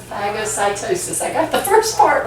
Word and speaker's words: phagocytosis: Second line of defense is the phagocytus. Did I say it right? Phagocytosis. Phagocytosis.